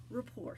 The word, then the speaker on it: rapport: with the client so it's built RPP ort it's spelt like rapport but its rapport so you're developing rapport